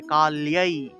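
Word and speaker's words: কাল্যৈ: নমঃ ভদ্রকাল্যাই, লয়ের সাথে জফলা, তাহলে কাল্যাই উচ্চারণ হবে, কাল্যাই।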